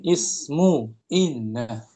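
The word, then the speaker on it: اسمُ إنَّ: Nah, dibacanya ismu ya. Jangan ditanwin. Ismu inna.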